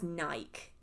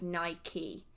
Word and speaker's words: Nike: Yeah, there's lots of people who pronounce Nike as Nike, and they don't put the E at the end. This is what I've discovered. Even in England, people do this. They will just say Nike instead of Nike, which confuses me.